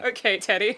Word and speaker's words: Ok Tedi: Okay, Teddy. Okay, Daddy. It is spelled OK Teddy.